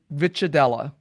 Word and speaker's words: Ricciardella: Matthew Vitadella. I hope I pronounced your last name correctly there. You did a great job. Good pronunciation.